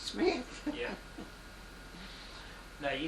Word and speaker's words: Schmidt: Emma, S-C-H-M-I-D-T. Schmidt. Pronounced Smith.